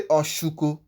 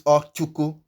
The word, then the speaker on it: Ochuko: But if you say Oshuko instead of Ochuko, Oshuko is cup seller, someone who is selling cup. And that one is not a name. It is Ochuko. That is the correct pronunciation. Ochuko, not Oshuko.